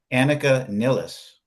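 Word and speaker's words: Anika Nilles: But the thing is, the guys in Rush have been rehearsing with, I think her name is pronounced properly as Annika Nilles.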